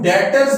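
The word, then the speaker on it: debtors: होते हैं उनको हम डेटर्स बोलते हैं तो यहां पर आपने ये बात याद रखनी है इसमें जो बी अल्फाबेट है ये साइलेंट है इसको डेप्ट नहीं पढ़ेंगे बच्चे बल्के डेटर बोलेंगे हम कि इस बिजनेस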